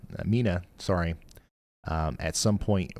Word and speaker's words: Mena: less confidence, but still uh we're concerned about the potential for a tornado warning being issued here uh for the town of Mena Mina, sorry, um at some point within the next little bit.